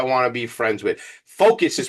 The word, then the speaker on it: Phocus: Focus is spelled P H O C U S and project in this case is P R O J E KT project baby.